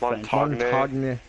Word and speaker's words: Montagne: It's Montagne. It's Montagne. Montagne. Las Montañas. Montagne. Los Montañas! It's French, okay?